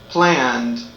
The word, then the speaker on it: planned: The three sounds of ED are t, t, d, d, id, id. Again, t, d, id. Listen again to the pronunciation of the verbs. What sound do you hear? For example, watched, watched. That's right, it's the t sound, watched. Next, planned, planned. That's right, it's the d sound, planned.